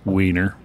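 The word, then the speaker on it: Wiener: lager using uh vienna malt or as it's pronounced weiner i just wanted to brew it because it's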